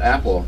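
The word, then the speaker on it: Apel: And his name, him and his brother were Appel, A-P-E-L, or no, Apple, they pronounce it Apple.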